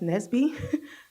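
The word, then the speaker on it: NSBE: Um, the acronym is pronounced Nesby.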